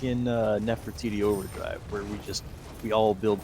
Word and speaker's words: Nefertiti: You show up, the rest of us are like, yeah, it's Nefertiti Overdrive, and you're just like, wait, what?